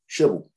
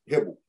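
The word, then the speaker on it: חבל: C-H-E-B-E-L, shibel. Better pronounced hebel.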